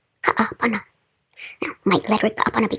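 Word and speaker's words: Kaʻapana: By the way, are you wondering how to pronounce those 2 A's in a row? Well, think someone flubs up, so they say, uh-oh, ka-a-pana.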